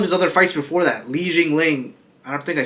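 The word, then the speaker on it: Li Jingliang: And all of his other fights before that, Li Jingling, I don't think I said that right. Li Jingying, yeah, you said it right.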